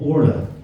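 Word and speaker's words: Orlaith: give you an example my eldest daughter is called AA you would expect that to be called to be spelled o r l a or La that makes sense wouldn't it you know our names actually spell o r l a i t h who was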